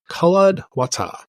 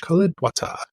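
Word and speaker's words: Culladwatah: to pronounce but I'll it's col wat c u l l a d w a t a h col wat Tony's giving me the thumbs up so I guess I did murder there so this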